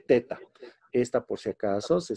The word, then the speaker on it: theta: teta es así listo algunos le dicen tita pero se lee teta ésta por si acaso